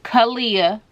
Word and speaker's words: Kahleia: people to be like what's your name again kalia all right middle name e l'oreal let's get